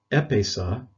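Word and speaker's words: ἔπεισα: it means uh it's it's pronounced epesa and it means i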